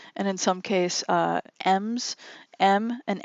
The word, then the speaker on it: em: in some case M's m and M unit is it's it's pronounced M but it's e/m if you're writing it out an M unit of